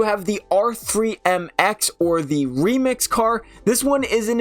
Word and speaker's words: R3MX: was pretty cool obviously the r3mx or the remix as it's properly pronounced I guess you could